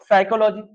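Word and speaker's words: psychology: तो आप याद रखिएगा साइकोलॉजी स्पेलिंग थोड़ा ध्यान दीजिएगा प इसमें साइलेंट है साइकोलॉजी और यह पूछा जाता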